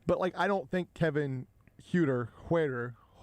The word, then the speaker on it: Huerter: I don't think Kevin Huerter. I remember that because somebody tweeted they don't call him Kevin Helper. That is how I remember how to pronounce his name accurately.